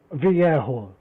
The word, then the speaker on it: Vallejo: How'd you pronounce that, Ted? Vallejo.